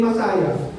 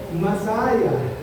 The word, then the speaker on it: Masaya: Eh nung nakarating ako ng barangay Masaya, tinanong ko yung taga roon, ano pong tamang pronunciation po ng word na ito? Sabi sa akin, Masaya.